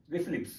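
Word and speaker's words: RFLP: we have to remember RF LP that means restriction fragment length polymorphisms pronounced as reflip what the meaning of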